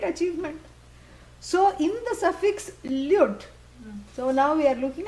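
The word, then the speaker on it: ल्युट्: Lyut. You. Yeah, L-Y-U-T. Lyut. Yeah, not lute, that is what you play. Yeah, lyut. Yeah, short O. Lyut.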